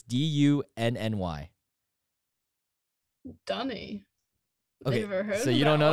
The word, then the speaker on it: dunny: dunny a what i don't know how to pronounce it it's dooney or dunny it's d-u-n-n-y dunny so you don't know that one okay